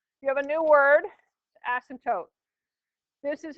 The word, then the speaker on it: asymptote: But you know, I think it was actually that the sub was spelling it phonetically because that's how you pronounce it, is asymptote.